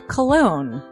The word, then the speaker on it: Colon: It is a self-published book by Christopher Cologne. Chris Cologne? Smells good to me. But look at her. That broke that fucking cold little exterior. He's like, hee. But it is spelled Colon.